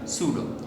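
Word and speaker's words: pseudo: এই ধরনের বলগুলোকে আমরা বলি সুডো ফোর্স, এগুলোকে আমরা বলি পিএসইউডিও। উচ্চারণটা কি? উচ্চারণটা হচ্ছে সুডো।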